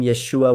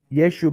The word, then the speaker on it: Yeshua: It's true that if you pronounce the letter ayin at the end, that's actually how it should be said.